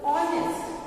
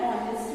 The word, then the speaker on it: honest: Because H is silent here, okay?